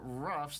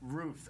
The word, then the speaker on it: Ruf: on tour and uh ruffs that your record company correct correct um technically ruth oh that's how you say it i've been saying it